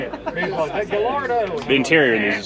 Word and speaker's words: Gallardo: Gallardo.